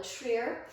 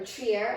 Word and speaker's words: Trier: also see photos of corolla treer or trier i think it's pronounced and then lastly i